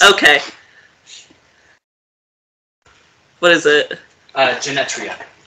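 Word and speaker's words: Genetria: t r i a I thought it was just Genta I mean it might be and the E might be mildly silent because English is stupid but yes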